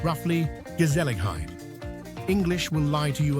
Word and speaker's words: Gezelligheid: Pronounced roughly Gezelligheid.